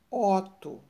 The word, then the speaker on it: Otto: palavra é um nome Otto vejam bem ó ó eu pronunciei o o aberto ó e ovo Aqui nós temos a palavra ovo esse olho pronuncia ele mais fechado então Otto e ovo